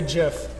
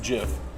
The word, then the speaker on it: GIF: It's pronounced GIF because you don't go to the GIM and it's not a giraffe, right?